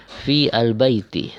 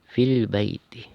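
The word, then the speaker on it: في البيت: yang ada di sini Maka jangan dibaca terpisah dengan misalkan membacanya Fi Al Baiti salah ya tapi cara bacanya langsung ya tanpa membaca Alif ini dianggap tidak tidak ada tidak dibaca tapi ditulis jadi cara bacanya V langsung ke sini fill Baiti fil Baiti sama seperti ini ya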